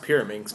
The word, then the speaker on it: Pyraminx: It's a Pyraminx. It's a pyramid Rubik's. It's a Rubik's pyramid. That's not. It's pronounced Pyraminx, by the way.